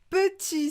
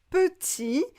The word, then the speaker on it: petit: Par exemple, petit, on va prononcer petit. Petit.